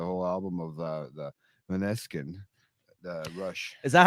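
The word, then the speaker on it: Måneskin: album of the the manesin the rush is that how you say it manesin is that you pronounce I think it's monin with the like the AO I was listening to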